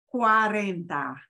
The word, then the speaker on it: cuarenta: enter so we get cuarenta and when you have CUA the U and the a have to be pronounced you know they'll slide together okay so you know all